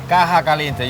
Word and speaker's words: Caja Caliente: a Cuban food oasis, and they call it Caja Caliente. Caliente. Caja Caliente, you say it right.